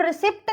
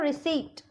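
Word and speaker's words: receipt: रिसिप्ट, ठीक है, इसको हम रिसिप्ट नहीं बोलेंगे, लिखने में दिखने में पी का वर्ड आ रहा है रिसिप्ट, लेकिन इसको हम बोलेंगे रिसीट.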